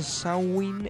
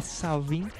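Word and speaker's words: Samhain: collegata alla festa celtica samin pronunciato Sain e Savin originariamente scritto samin il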